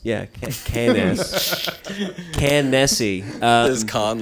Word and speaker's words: Cannes: Oh, you mean cans? Yeah, Cannes. Cannessi. Is Khan like the lore pronunciation?